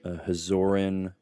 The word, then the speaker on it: Hazoran: Yeah, 7 gods that are part of the Hazoran Combine. That's how that word is pronounced.